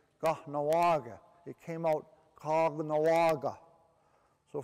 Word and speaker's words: Kahnawake: Now the real pronunciation is Kahnawake.